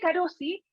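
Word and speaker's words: Carozzi: televisión decían la marca, entonces decía, se dice Carosi, y así se escribe, entonces, Carosi, acá, entonces la C a lo mejor suena como K.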